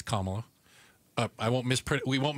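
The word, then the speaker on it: Kamala: us Gail bass two things number one it's kamla I won't Mis we won't mispronounce anybody else's name it's KLA uh and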